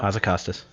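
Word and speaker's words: Hazzikostas: Blizzard lead encounter designer Ian, I don't know how to pronounce the last name still. Hazacostas.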